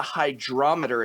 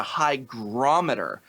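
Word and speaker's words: hygrometer: do in the uh video it's not a hydrometer it's a Hy grometer apparently is how it's pronounced H that's what people said hydrometer too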